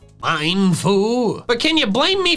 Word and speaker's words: Mienfoo: Apparently, the official pronunciation is Mienfoo and Xiao. Mienfoo. Xiao. This was news to me. The mien comes from ermine, a type of mustelid, the class of animal that they're based on.